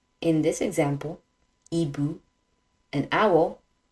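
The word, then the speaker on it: hibou: silent in this example EBU an owl the H is silent other examples like Hospital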